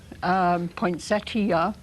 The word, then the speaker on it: poinsettia: is is an eye there is an i in the word poinsettia would be the proper way but there are a